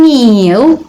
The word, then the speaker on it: kneel: to explore, to seize, to kneel, be careful, kneel, the silent letter K, to strike off, and to ignore.